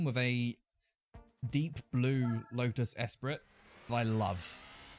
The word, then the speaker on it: Esprit: Some of you may jump on me going, that's not how you pronounce it, but I refuse to pronounce it the apparent way they suggest. I really like Lotus Esprit. It's a spree, actually. No, not for me.